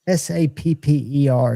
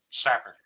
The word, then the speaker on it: sapper: They say, and I don't know if I'm pronouncing it right, it's s a per. Is that sapper or is that saper? Sapper.